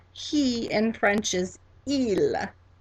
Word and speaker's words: il: The word to say he in French is il, il, and that's spelled I-L, I-L.